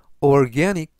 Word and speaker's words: organic: 뜻이 되겠습니다 이번 표현은 organic organic organic이라고 발음하시면 되겠고요 이때 강세는 중간 부분에 있는 알파벳 a의 강세가 있습니다 그래서 organic이라고 발음하시면 더